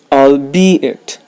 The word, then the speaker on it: albeit: word of the day today's word of the day is I'll be it I'll be it the stress is on the second syllable it means even though